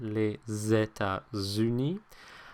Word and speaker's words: États-Unis: Number one, it's not pronounced as an S, it's pronounced more like a Z, les États-Unis. And secondly, notice where it is in the word, okay? The S kind of moves over to the next syllable. So it's not les États-Unis, but les États-Unis, okay?